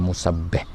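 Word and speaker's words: مُسَبِّح: Kalau musabbih maknanya orang yang bertasbih, musabbah ialah orang yang ditasbih. Jadi di sini kena jaga-jaga kan, iaitu bacanya ialah musabbih.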